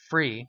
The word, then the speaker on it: Free: Did I say that right? You said it right, yeah. So many people say, well, how do you spell that? Well, it's F-R-E-E. People try to think it's fancy, like, oh, is it F-R-E-A-H? No, it's free.